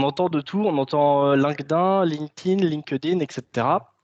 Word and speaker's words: LinkedIn: Vous pouvez dire LinkedIn, j'ai un compte LinkedIn, etc. etc. C'est plutôt comme ça qu'on va le prononcer. Parce que linked en anglais, ça se prononce linked. Donc, LinkedIn, voilà, c'est le petit comme ça.